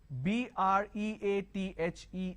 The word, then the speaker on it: breathe: think breathless bath the this Rhythm breathe so b r e a t h e is breathe b r e a t h